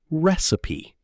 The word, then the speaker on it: recipe: Many learners pronounce it incorrectly because of the spelling. The correct pronunciation is recipe.